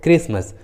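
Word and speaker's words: Christmas: का उच्चारण नहीं करते, जैसे इको, कोरस, क्रिसमस। देखिए तीनों इंग्लिश वर्ड्स में एच सी के बाद आया है, इसलिए रूल के अनुसार एच का उच्चारण नहीं हुआ है, एच साइलेंट है।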